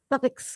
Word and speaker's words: Suffolk: Suffolk County.